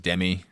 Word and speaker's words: Demi: than competent performance from Demi Moore. You know, it really ought to be pronounced Demi. You know, like half the size, inferior.